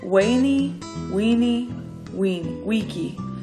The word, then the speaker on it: veni vidi vici: battle Caesar famously claimed veni vidi vici pronounced in Caesars day as weyni we we we key meaning in latin I